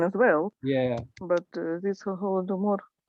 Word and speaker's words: Holodomor: But this Holodomor. In Russian, you have to change first letter from H to G, like Golodomor. Yes. Yeah, right. And Ukrainian is Holodomor. Yes. And you pronounce like it's softer.